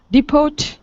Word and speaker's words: depot: Depot. Central place where buses meet. H. Yeah. Excellent. Yep. Letter H. And this is a word we borrowed from French, and the T is silent.